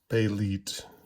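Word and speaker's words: Bêlit: take that as authoritative and I'm making um pay lead my chosen pronunciation for the character in The Robert E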